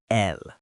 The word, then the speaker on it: elles: If you see a group of women, only women, 100% women, you use L. It sounds exactly like the singular L, but we spell it with an S.